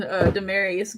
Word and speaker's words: Demarius: Well, I'll have since the twin number one went, I'll have twin Demarius go next. Well, hey everyone, my name is Demarius. Long A's and Latin pronunciations.